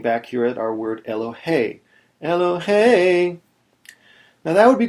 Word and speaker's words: Elohei: So here on this word Elohei, the accent is on the last syllable.